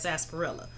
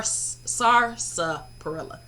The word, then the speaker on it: sarsaparilla: my opinion anyway but it does not look like sarsaparilla like you only got one r in that pronunciation um the other thing